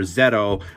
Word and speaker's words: ZO: And just because uh common rider zo or zetto, whichever you however you want to pronounce it, because I believe in Japan it's zetto. Um but I like to say zo, you know, for me it